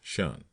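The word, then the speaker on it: 'shun: the command, shun, squad, abbreviated from the attention and pronounced shun.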